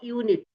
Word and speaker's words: unit: So here you see here the uh o unit you see it begins with u but the sound comes like comes like y o u u or y u u like that but you